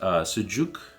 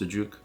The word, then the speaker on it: sucuk: Yes, sucuk, I think is how it's pronounced, sucuk, which is like this mild, soft sausage.